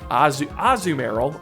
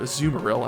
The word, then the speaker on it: Azumarill: And last but not least, you guessed it, Azumarill, or Azumarill as it's actually pronounced.